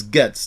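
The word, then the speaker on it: Gaetz: Gates, I think it's Getz, the way you pronounce his name, and Green announced move to defund the director of the ATF.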